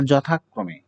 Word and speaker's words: যথাক্রমে: যথাক্রমে না যথাক্রমে? এটার উচ্চারণ হচ্ছে যথাক্রমে। এটি কিন্তু উচ্চারণ, এটি যদিও অন্তস্থ জ কিন্তু এটার উচ্চারণ হচ্ছে বর্গীয় জ এর মতো।